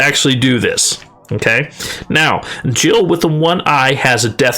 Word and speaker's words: Jill: Don't laugh, because Jill rhymes with kill.